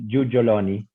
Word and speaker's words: Giuggioloni: Es de origen italiano, la pronunciación es Giugioloni, pero tampoco Perfecto. hablo italiano, así que no lo podría confirmar.